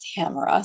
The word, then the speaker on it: Tamara: It's not said that way. It's Tamara.